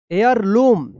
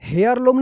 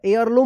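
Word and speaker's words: heirloom: लम यहां पे देखिए हेयर लम नहीं होगा एयर लम होगा एयर लम एयर लम एच ई आई आर L double O एम यहां पे एच जो है ना साइलेंट रहेगा देखिए यहां पे नियर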